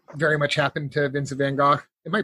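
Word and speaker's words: Van Gogh: they say it's Vince Van goof with a with a soft H at the end but that's the Dutch pronunciation he was he was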